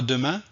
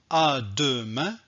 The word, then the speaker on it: demain: je ne vais pas dire à deux mains non je vais dire à demain et je ne vais pas dire mes deux seins non je vais dire médecin donc la règle ici